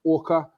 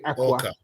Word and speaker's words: Aqa: That's because it looks like you do it phonetically, but it's comedic, pronunciation. So Orca.